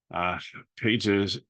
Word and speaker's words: Pages: of like what Padres is this year, and Pages, that's how you say it.